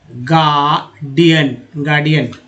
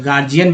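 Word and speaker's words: guardian: आर्ड बोलते हैं, गार्डियन, डी को कभी कभी ज भी लोग बोलते हैं ना, इसलिए गार्जियन भी लोग बोलते हैं, लेकिन उच्चारण तो शुद्ध तो गार्डियन ही होगा, लेकिन डी से ज भी उच्चारण हो ही जा रहा है।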